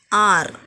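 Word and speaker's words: hour: Here this H is silent. So what you will say here? How can you say this word? So R.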